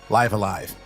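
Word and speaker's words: Live A Live: taking a dive into squaresoft's 1994 snes rpg live alive and yes that is how it's pronounced and my kanji reading friend lona ranger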